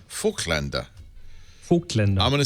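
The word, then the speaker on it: Voigtländer: Well, the proper pronunciation is Voigtlander. Voigtlander.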